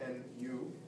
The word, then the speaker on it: nu: Lambda is the wavelength, and B is actually nu, the Greek letter nu spelled N-U, or pronounced nu, and it represents the frequency of the radiation.